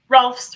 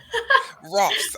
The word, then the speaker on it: Rohlfs: Rohlfs rhymes with golfs. Rohlfs.